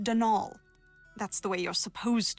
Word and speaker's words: Donal: caretaker Donald Delaney not Donald mind you there's no D at the end so it's pronounced denal that's the way you're